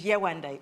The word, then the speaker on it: Yewande: So I told him my full African name, which is Yewande. It's 3 syllables.